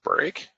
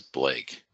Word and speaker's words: Blake: can't pronounce else oh so she said break no grandma my name is blake break blake break blake